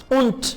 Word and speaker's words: und: Und das और ये. und डी को मैं क्या प्रोनाउंस कर रहा हूं टी.